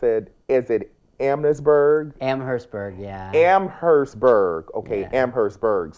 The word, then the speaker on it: Amherstburg: And so do you now, James, can you pronounce it? Is it Amherstburg? Amherstburg, yeah.